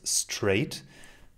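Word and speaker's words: Strade: it then it was straight and if you write it down s-t-r-a-d-e it looks good i think i still think but if you pronounce it if you say it well it's straight and people will write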